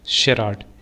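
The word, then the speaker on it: charade: क्या प्रोनाउंस करेंगे, शेराड।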